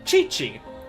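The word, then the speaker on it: Qiqi: a character in the Chinese analog area named Chi-Chi. Her name is spelled Q IQI, like when romanized. And the game pronounces it Chi-Chi.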